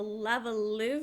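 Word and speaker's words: Live A Live: Live Alive, or Lava Live is how the announcer pronounced it.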